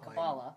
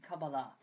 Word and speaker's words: Kabbalah: even get that name Kabbalah versus the what more typically people are pronouncing it well the most Hebrew words that are accented on the final syllable but most English words are not so it's just a